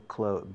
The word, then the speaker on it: clothes: Yo cuando digo ropa, digo clothes, lo pronuncio como cerrar la puerta. La TH no lo pronuncio, no digo clothes.